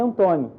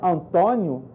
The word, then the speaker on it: Antônio: língua falada por exemplo aqui no brasil nós temos um nome antônio antônio grafado com um acento circunflexo em portugal pela questão da pronúncia do nome é antônio que eles são mais abertos lá se grafam com acento agudo então se houvesse uma